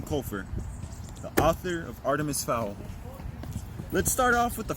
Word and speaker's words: Fowl: The second part of his name, Fowl, sounds like the word foul meaning nasty.